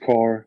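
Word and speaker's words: Kerr: last five years is James ke or it's pronounced car and then go Giver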